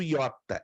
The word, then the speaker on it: iota: o som do yota é um I aberto já interessante no Eta nós temos o i fechado hum é como fosse um I Grave Se assim podemos dizer já no Ia sempre a iota vai trazer um I grave um I aliás um I Agudo um I bem aberto a próxima letra que